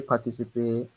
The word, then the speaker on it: participer: dont il faisait partie car il voulait participer à un tournoi. Not a. You didn't see a. Participer. Participer à Ah, it's not a, okay?